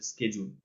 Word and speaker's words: schedule: এখানে কিন্তু যে উচ্চারণটা আছে, এটা কিন্তু শিডিউল না, এটা হচ্ছে স্কেজুল।